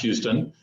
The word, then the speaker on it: Huston: I am Huston. It looks like Huston, but it's actually spelled or pronounced Houston.